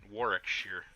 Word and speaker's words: Warwickshire: Silent W, like Norwich, is pronounced Norwich. Okay. So you say Arwickshire? Warwickshire? Warwickshire? Through the window. If I were in a truck, I would. Interesting. Oh, I see. The middle W is silent.